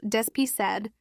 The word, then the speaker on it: despised: The word despised pronounced with three syllables despised means hated, rejected, or looked at with contempt.